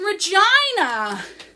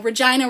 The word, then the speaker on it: Regina: that rhymes with fun, but it actually rhymes with, you know, Regina rhymes with, so some people were upset by that, but I was like, that's funny, that's what everyone is thinking.